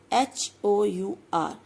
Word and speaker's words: hour: Okay, here is my first word, H-O-U-R, I read it hour, H is silent, so I write H-O-U-R but I read only OUR, then the sound is आवर, ठीक है।